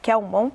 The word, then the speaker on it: Kelmon: Ele diz que o padre Kelmon, é assim que se pronuncia? Kelmon, ele está para Bolsonaro nos debates de 2020, como esteve para o próprio Bolsonaro o Cabo Daciolo em 2018.